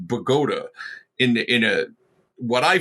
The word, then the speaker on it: Bogota: to bogota which the the new jersey town spelled exactly the same way is pronounced pagoda in in a what